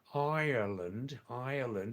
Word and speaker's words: Ireland: Ireland is the correct way to say the where Stock Guruji's living, right?